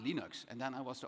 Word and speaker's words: Linux: And I said, it's pronounced Linux.